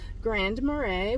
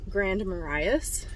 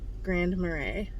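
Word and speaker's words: Grand Marais: was saying it wrong I was saying um oh my gosh I don't even remember how I said it um Grand maras cuz it's um m a r a i s Grand marray that's how you say it oh my gosh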